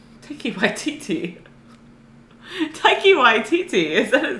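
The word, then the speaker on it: Taika Waititi: Yeah, it's got that I could never say his last name right, Taiki Waititi. Taiki Waititi. Taiki Waititi, is that his name? I probably butchered that, Taiki but Waititi.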